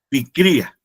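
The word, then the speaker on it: πικρία: Más o menos se pronuncia picría y aparte de amargura dice que es algo punzante.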